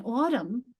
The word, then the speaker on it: autumn: Or if you have the silent M in autumn, and we think it's related to autumnal.